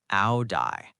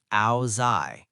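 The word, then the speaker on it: áo dài: Áo dai, pronounced like áo dai in the north or áo dai in the south.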